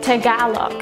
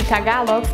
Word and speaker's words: Tagalog: Tagalog.